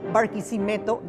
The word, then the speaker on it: Barquisimeto: in one bit there's a famous city bariso that has five syllables and that's how I